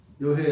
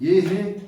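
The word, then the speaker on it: 豫兮: 약동석천 바로 치면 나오는데 여해 약동석천인데 얘라고 읽어야 된단 말이에요. 15장 도덕경 15장. 아, 15점. 우리가 이미 지나갔는데 잊어버려. 15장 고지선의사자 위명현통 신불가식 부유불가식 예해 약동석천 유해 야계살인 사방 이웃들 그게 여유당이에요.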